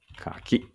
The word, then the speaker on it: 柿: ありますかねこれはちょっと止めて鍵てになっちゃったやっぱりちょっと発音悪かったねかきはいじゃ読みましょう